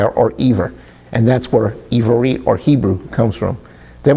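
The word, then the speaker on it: עברית: And so we've gone over this word called Ivarit, meaning Hebrew, before, but let's look at it again using the Yud.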